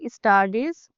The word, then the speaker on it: studies: Studies, not S, study. So, see, with I have observed this S study as starting with E with some students.